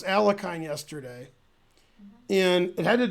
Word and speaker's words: Alekhine: Yo instead of yeah.